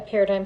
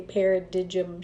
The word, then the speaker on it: paradigm: cracked me up because a lot of people didn't know how to say it they'd say Perry did Jim shift anyway what it really